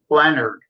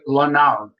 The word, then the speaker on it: Leonard: you you know what my last name l n a r d Leonard people always want to call pronounce it lonard so you know you